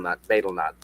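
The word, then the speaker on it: betel nut: I think it's Betlenut. Not Beetle. Betlenut.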